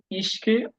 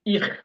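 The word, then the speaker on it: ich: যেটাকে বলা হয় মানে স্ট্যান্ডার্ড জার্মানে হলো ইশ তবে এটাকে ইখ বলা হয় আপনারা যদি কোথাও শোনেন ইহপিন এটাও সঠিক এটা ভুল না উচ্চারণ ইশকে আপনারা ইখিনও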